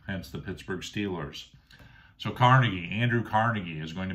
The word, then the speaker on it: Carnegie: Next, I have Andrew Carnegie. You'll hear some different pronunciations of his name. Carnegie, I always go with Carnegie.